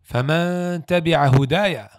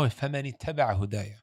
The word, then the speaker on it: فَمَنِ اتَّبَعَ هُدَايَ: And he said, فَمَنْ تَبِعَ هُدَايَ. Who's the one that corrected him? A young child behind him. He said, no, فَمَنِ اتَّبَعَ هُدَايَ.